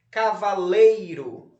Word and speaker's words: cavaleiro: Cavaleiro, um tracinho embaixo da sílaba lei.